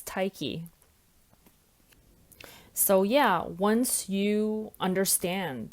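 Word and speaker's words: Tyche: I think it's Tyke. Hang on. Okay, it's Tyke.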